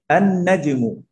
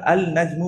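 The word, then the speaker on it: النجم: আন নাজমু, আমরা আল নাজমু বলি নাই। তাহলে নুন দিয়ে এবার যত কালিমাই শুরু হয়, সেটাকে যদি আমি আলিফ লাম দিয়ে কি করতে চাই, মারিফা বা নির্দিষ্ট করতে চাই, তখন আমি কি করব? আর লামটাকে আমরা উচ্চারণ করব না।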